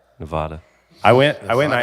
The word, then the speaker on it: Nevada: las vegas in uh nevada nevada ah both of you guys are wrong it's nevada nevada nevada nevada i went i went